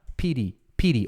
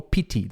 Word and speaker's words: pity: Pity ou pity. Pode falar pity com esse T ou pode falar com tipo um som de R.